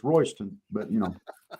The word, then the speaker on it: Royston: And that's that's pronounced Royston and it's and it's spelled Royy's ton, you know, like it belongs to somebody, but it's Royston, but you know.